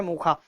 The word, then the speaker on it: Mocha: दिया हुआ है MOCHA, लेकिन इसको बोला जा रहा है मोखा, यानी इसका हमें प्रोनाउंस करना है मोखा।